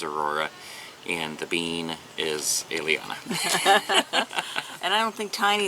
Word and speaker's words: Eliana: And my son's girl's name is Liliana. Eliana. Eliana. Yeah. Eliana. And that's spelled with an E.